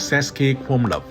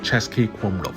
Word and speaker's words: Český Krumlov: In English, it’s usually read as ces-ki krum-lov, but I actually prefer its Czech pronunciation: ˈtʃɛskiː ˈkrumlof.